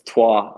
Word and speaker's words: Troyes: try try how do you say it it's TWA like they say yeah yeah it sounds like Troy it's spelled Troy as yeah like troyes but it's